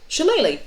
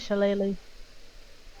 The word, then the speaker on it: shillelagh: Shillelagh, yeah. Or Shillelagh, either way. It's Irish, right? Mhm. It's Shillelagh.